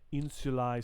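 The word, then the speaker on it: insulae: here corsica sardinia where ae together is a diphthong which sounds like i i think is the the the word terminology there insulai sunt so a islands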